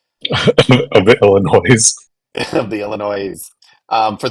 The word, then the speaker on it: Illinois: the Illinois of the Illinois of the Illinois um for those of you who don't live in Illinois there is no you do not pronounce the S at the end of that um unless you want